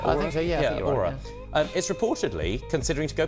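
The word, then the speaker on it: Oura: Yeah, Aura. That's how you pronounce it. I think Aura is reportedly considering to go public as early as next month.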